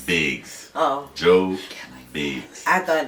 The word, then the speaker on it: Biggz: now who is Joe Briggs Joe you keep saying my name it's bigs oh Joe bigs I